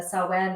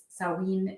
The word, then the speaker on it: Samhain: Yeah, so Halloween is basically rooted in Celtic traditions, and specifically the Samhain or Samhain. It's pronounced slightly differently in different dialects, but that is it was a time when the veil was said to be at its thinnest.